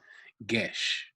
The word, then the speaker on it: geis: guests are uh okay they're pronouncing this gesh okay so i've been pronouncing it wrong the whole time the gesh